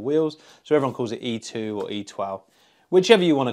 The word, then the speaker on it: e-twow: Today we're going to be reviewing the newest scooter from e-twow, or e-twow, depending on how you pronounce it. It's e-twow.